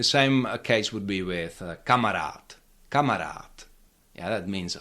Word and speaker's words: kamarád: The same case would be with kamarat. Camarat. Yeah. That means a friend and you again you cannot stress the last syllable where there is long a uh you cannot say kamarat. Camarat.